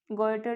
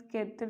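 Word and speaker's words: goiter: Next अपने पढ़ेंगे गोइटर disease. ये फ्रेंड्स केतर नहीं है, गोइटर है, हिंदी में बोलते हैं घेंगा, हिंदी में याद रखिएगा आपको, इंग्लिश में गोइटर, ये स्पेलिंग है इसकी,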